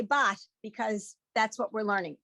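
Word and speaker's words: בת: And so that's why people say bas. But in today's world, we would say bat because that's what we're learning.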